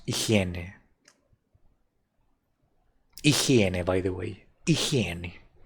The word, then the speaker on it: higiene: Oh, and that word in Spanish is like this. It looks very similar, but it's pronounced in a very different way. It's higiene.